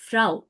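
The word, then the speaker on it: Frau: इज याने Bayern हां आप उल्टा बोल रही है आप उ आ बोलती है बट इट्स आ उ फ्राओ काने उ हम काने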